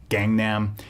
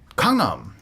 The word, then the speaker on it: Gangnam: i find it interesting that so many people mispronounce gangnam uh ellen on ellen degeneres show gangnam and a lot of people picked up on that and keep on calling it gangnam style even though they'll have the song playing